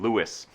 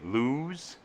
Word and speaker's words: Lewes: look for me in Lewes Delaware Lewis spelled by the way l e w es and for like non Delaware people you would say lose but then they'd be very quick to correct you the other thing that